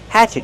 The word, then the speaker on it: hatchet: Use the open a sound like black cat. Hatch. Hatchet. The stress is on the first syllable. And what about the letter T at the end? Use a stop T. Stop the air. Hatchet. Not hatchet, but hatchet.